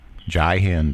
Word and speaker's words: Jai Hind: Yeah, Jai, Jai Hind. That's how you pronounce it.